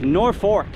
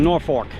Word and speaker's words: Norfolk: this B town and it's more like nor fork like the utensil you eat with not completely Fork but it's not folk so I'm going to go with Norfork anyway it goes from